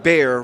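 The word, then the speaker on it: Bexar: is the county is is pronounced bare like the animal and it's a again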